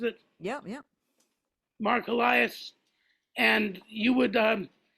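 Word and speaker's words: Helias: remote uh way first you and just Mark helas that's how he pronounces it yeah yeah Mark helas and you would um how would you do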